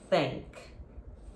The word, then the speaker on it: think: you're gonna say is think think failing uh you have to touch your teeth or your tongue has to touch your teeth as well because it's a th sound think think is after